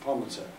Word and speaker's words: Palimpsest: The palm set.